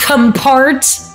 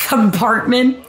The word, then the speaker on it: comportment: Paimon, again, it's pronounced compart. Yeah. She did it again, Scotty. Fucking... Comportment. It's pronounced compartment. Compartment, Paimon.